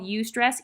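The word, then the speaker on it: eustress: It's called ust stress. EU stress is how it's spelled.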